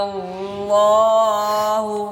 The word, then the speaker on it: الله: युकल्लिमुना अल्लाह, लौला युकल्लिमुना अल्लाह। माशा। अब इसमें बच्चों लफ्ज़ अल्लाह का लाम है, उससे पहले नून पर ज़बर है, अब खूब मोटा पढ़ना है, और इसमें फिर अल का हमज़ा अल्लाह साइलेंट है जी।